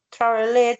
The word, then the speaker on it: traveled: Vanessa, cuando decimos la palabra traveled, esa E se va cuando pronuncio. Es decir, que digo travel y luego traveled, traveled.